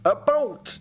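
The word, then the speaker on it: about: As a Western Canadian myself, I can say it's pronounced a boat, not a boot. Oh, okay, saying a boot is more Eastern.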